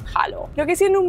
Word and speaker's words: hallo: Se escribe como hello, pero en vez de con e, con a y se pronuncia hao.